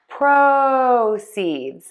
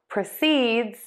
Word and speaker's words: proceeds: Let's start with the noun, stressing syllable number one, proʻsidz, proʻsidz, proʻsidz, proʻsidz, proʻsidz, proʻsidz. And now for the verb, prəˈsidz, prəˈsidz, prəˈsidz, prəˈsidz, prəˈsidz, prəˈsidz, proʻsidz, prəˈsidz, proʻsidz, prəˈsidz.